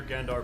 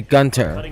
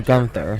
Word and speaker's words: Gunther: space elevator and near Gandar Bay have been hit particularly hard. Numerous ships have been sunk. That pronunciation of the name. It is supposed to be Gunter or Gunther, not Gandar was seen.